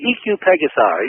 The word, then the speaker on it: EQ Pegasi: By the way, EQ Pegasi, that's the correct way to pronounce it.